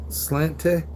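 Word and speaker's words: Sláinte: Well, how you say it? Slange. Cheers. It's Gaelic.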